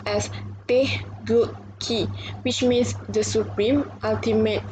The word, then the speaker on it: Taegukgi: It's pronounced as Taegukgi, which means the supreme ultimate flag.